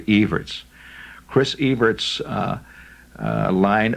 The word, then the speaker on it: Evert: read Chris evertz uh or if you prefer Evers see that's the mispronunciation it's actually evertz Chris E's uh uh